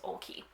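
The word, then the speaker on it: Oakley: up on the website how to say her last name her website i should clarify because there's a lot of vowels here it is olkey um this is a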